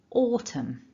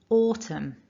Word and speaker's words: autumn: or autumn definitely not the n is silent autumn so repeat after me one last time for good measure nice and loud autumn fantastic so if you